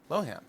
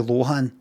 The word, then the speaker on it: Lohan: Lowan thought he was like you know it's Lohan. Yeah. Oh is it is Lohan. It is Lohan. Right. So, but she said she said that she said it once um and he's kept it in his head, but it is actually Lohan, right? So, it's her fault then. She said loan.